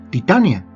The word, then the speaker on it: Titania: de titanio, mientras que el nombre shakespeariano se pronuncia como lo haríamos en español, Titania.